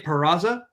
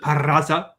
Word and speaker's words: Peraza: Jacob deGrom, David Bote, Chris Archer, Jose Peraza, or is it Peraza? Thank you. I was like, come on, you got to roll your R's.